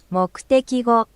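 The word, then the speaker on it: 目的語: I'm sure it is, so mokutekigo Yes, mokutekigo. So, the U is not spoken out.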